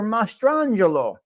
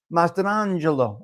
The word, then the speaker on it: Mastrangelo: His birth name was John Peter Mastrangelo. That's how you say it, Mastrangelo.